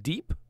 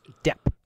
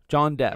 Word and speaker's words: Depp: There was a guy named Jonathan Deep. John Deep? I believe it's pronounced Depp. John Depp. John Depp, yes, is also in the movie.